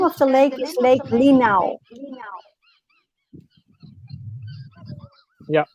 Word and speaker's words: Linau: Ernst, the name of the lake is Lake Linau. Yeah, it's spelled L-I-N-O-W, Linau.